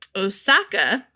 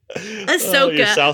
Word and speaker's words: Ahsoka: in Clone Wars playing Osaka. Yeah. I was just going to say, who is it? Ahsoka. Sorry, I had to say it wrong to make Todd laugh because...